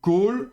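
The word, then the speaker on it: כל: Donc, le A ici, kametz, eh bien, on ne le prononcera donc pas A, mais O. Donc, kol, hayom, et vous aurez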